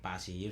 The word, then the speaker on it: PASE: Yung iba po ah they pronounce passy. Sa amin naman po face na lang yung ano po yung madalas na ano po namin diyan pronouncement.